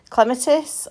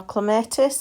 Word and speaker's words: clematis: Okay, so just moving down the garden, that's a shot of my clematis or clematis, however you want to pronounce it.